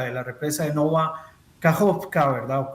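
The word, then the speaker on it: Kakhovka: En el caso específico de esta planta, de la represa de Nova Kajovka, ¿verdad? No, Kayovka, como también se le pronuncia algunas veces.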